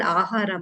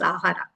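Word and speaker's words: āhāra: deliberate on this word ahara, man. Hmm. Ahara has two syllables, ah and ra.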